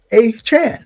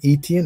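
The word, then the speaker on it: Achane: Say it properly. A-Chan. It's easy to say. Don't call me Etienne if that's not how I pronounce my name.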